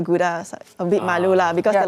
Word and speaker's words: Gouda: there when i went it's pronounced gauda gorda yeah when i go to the store and say i'm looking for gouda i beat malula because